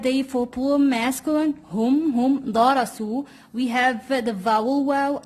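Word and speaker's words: درسوا: So we have the vowel waw with a silent alif at the end. Okay? So we do not say darasuwa, no.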